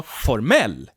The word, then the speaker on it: formell: For instance, we have the word formel, formula, formel, but also formell. The stress moves from the first syllable to the last syllable, formell, which means formal.